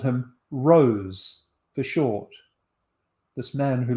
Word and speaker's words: Rose: a lot of evidence that Shakespeare and others pronounced it Rosley, and that the male admirers of the Earl of Southampton called him Rose for short.